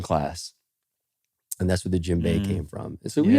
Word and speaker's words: djembe: Boom, and that's a djembe. And so djembe. Yeah, it's called the djembe. I think I'm pronouncing that right, but Jimbay.